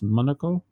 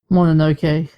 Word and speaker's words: Mononoke: Sky, My Neighbor Totoro, Kiki's Delivery Service, Princess Monaco. Just your Monaco. No, sorry, Princess Mononoke. I've Mononoke. I always mispronounce that.